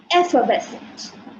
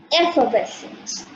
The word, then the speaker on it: effervescent: Next word is effervescent. Effervescent. We do not pronounce the R. It is effervescent.